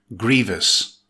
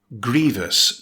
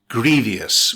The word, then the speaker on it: grievous: It's an adjective with two syllables. Stress the first syllable. It's pronounced grievous. Note, grievous, not grievous, with three syllables.